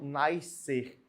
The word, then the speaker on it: nascer: É legal você ouvir essas músicas, mas lembre-se, correto é não pronunciar esse SC. Tem que sair um só som.